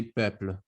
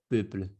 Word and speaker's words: peuple: sound changes to so you have to say peuple, not peuple.